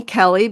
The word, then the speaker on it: Kelly: She named me Kelly because it rhymes with Ellie.